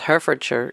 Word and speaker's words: Herefordshire: No, I always thought it was Herefordshire because we say Hereford for the cows. Oh, okay. No, Hereford. So we don't pronounce it Hereford.